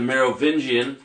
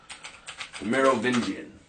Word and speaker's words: Merovingian: then you have the Maro venian which isn't pronounced right the Maro venian is the morovian there's a morovian queen leth the morovan king Lucifer anyways Merovingian right morovian so you have again